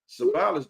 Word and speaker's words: Savalas: Savalas, just like Kojak.